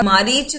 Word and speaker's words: मारीच: मायावी, उसका पास सेवा मारीच था, कोई उसे मरीच ही बोलता है, कोई उसे मारीच बोलता है, तो वो अलग अलग प्रोनाउंसिएशन है। रामायण में उसको मारीच लिखा गया है।